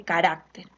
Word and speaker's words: carácter: Igual en el caso de carácter, ¿no? Carácter está acá, la sílaba tónica, la mayor fuerza de voz está acá en esta sílaba, hará carácter.